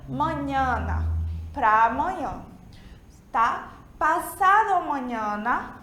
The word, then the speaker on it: mañana: Lembra que a gente viu na aula passada que essa letra M, que tem um tio em cima, ela se pronuncia N, como se fosse o nosso NH, certo? Então, a gente pronuncia mañana, para amanhã, tá?